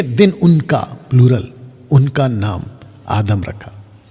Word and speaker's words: आदम: उनका प्लूरल, उनका नाम आदम रखा। तो पुरुष का नाम भी आदम और स्त्री का नाम भी आदम। और आदम का सही प्रोनाउंसिएशन है आदाम।